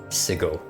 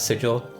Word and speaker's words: Sigil: so they went with Sigle as the name of the city and even made it a thing where like uh someone got sentenced to death for pronouncing sigle as sigil.